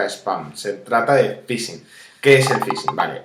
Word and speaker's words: phishing: Porque muchas veces no se trata de spam, se trata de phishing. ¿Qué es el phishing? Vale, el phishing, bueno, aunque se escribe con P, es algo como así como pescar, ¿vale?